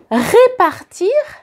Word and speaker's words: répartir: Répartir ou repartir. So, just the accent on the E, and you can notice it in the pronunciation.